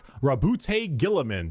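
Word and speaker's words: Roboute Guilliman: Primarch Rabbout Gillamin.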